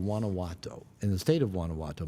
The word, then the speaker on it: Guanajuato: Don't ask me to spell it. It starts with a G. Guana. How do you say it? Guanajuato.